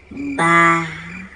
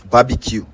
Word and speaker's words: barbecue: Pronounce this word. Barabic. Barabic. The word is barbecue.